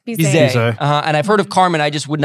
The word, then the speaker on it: Bizet: Is it pronounced Bizet or Bizet? Bizet.